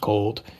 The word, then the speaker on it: CLD: a little bit so Commerce and Logistics Vision pronounced cold um just for those of you just in